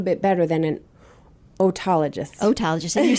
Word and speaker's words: otologist: know a little bit better than an otologist otologist and you're saying you're saying it right the